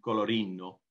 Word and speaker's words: Colorino: With Sangiovese, Cagnola, and Colorino, maybe. Exactly. That's the correct perfect pronunciation.